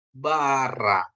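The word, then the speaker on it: בָּרָא: dikasih kamat bacanya ra terus a alep alep ini silent ya silent Jadi kalau dia tidak di bubuhi dengan mikut dia adalah silent atau tidak dibunyikan tapi tetap ditulis begitu ya Bapak Ibu ya jadi bacanya jadi Bara nah Bara menciptakan ya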